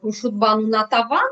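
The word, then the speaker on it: Khurshidbanu Natavan: pulling something up again, and please forgive my pronunciation, Khurshid Banu Natavan. Natavan, exactly. Khurshid Banu Natavan.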